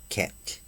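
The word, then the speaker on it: חטא: So the Hebrew word translated here as guilt is ket, which is spelled C-H-E-T with the English letters, which always means sin,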